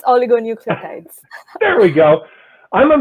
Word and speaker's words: oligonucleotides: The focus of her research revolves around the development of novel antisense I'll let Tejal pronounce this. Yeah, it's oligonucleotides.